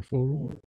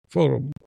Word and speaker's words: forum: We wanted to start this program only for to be an open forum, so we can. What's the pronunciation? Is forum or forium or forum? Forum.